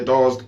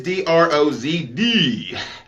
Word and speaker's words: Drozd: The upgraded, hooked up version of this is called the Drozd Blackbird.